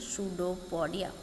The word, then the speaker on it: pseudopodia: देखिए इसमें पी मैंने साथ में नहीं जोड़ा क्योंकि पी इसमें साइलेंट रहता है, इसलिए इसको बोलेंगे सूडोपोडिया, मतलब पादाब बोलते हैं हिंदी में।